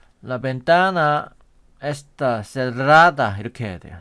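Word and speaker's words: cerrada: 얘도 창문이 닫혀 있다 할 때 라벤나 에스타 세라다 이렇게 해야 돼요 세라다 레스떼 그래서 에스스 레스떼 하면 식당에 있니이란 뜻이죠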